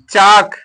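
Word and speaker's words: chalk: कम अगला वर्ड है चाक लिखा गया सीच ए एल के चाक लिखा गया है तो पढ़ेंगे क्या इसको चक पढ़ेंगे क्या पढ़ेंगे चक पढ़ेंगे चक मीस चाक होता है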